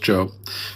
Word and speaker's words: Job: It's pronounced Job.